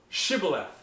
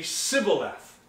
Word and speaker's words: Shibboleth: Ephraimites could not pronounce Shibboleth they can only say Sybil death think about that for a minute right they you know the gileadites could say Shibboleth but the Ephraimites can only say Sybil and write the word